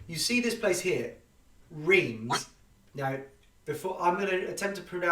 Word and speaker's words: Reims: Pronounced Reims. So as in, it almost sounds like an N, the M, Reims. Is that correct? Sorry, what? Reims, up here, is Reims. The M is an N.